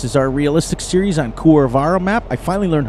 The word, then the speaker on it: Kuravarra: RR something Kuravarra, but the Kuh I guess is pronounced Kur, so it's Kuravarra.